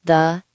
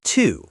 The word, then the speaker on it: to: Words like to, for a, and the, and but in a textbook, we say to.